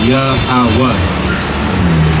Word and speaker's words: Yahweh: It's pronounced Yahweh.